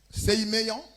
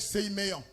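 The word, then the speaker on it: semeion: L'expression grecque, séiméon. L'expression grecque séiméon. Séiméon. Amen. Ça s'écrit S-E-M-E-I-O-N. Sei, ça se lit Sei. Ou bien Sai.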